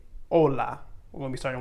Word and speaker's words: hola: want to remember that the h in spanish is always silent so it will not have any sound when you are pronouncing it so for example if we are saying the word hola that actually has the